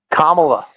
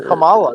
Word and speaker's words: Kamala: Kam Kamala Cala CA you know kamla that's how you're supposed to say it camela I'm not even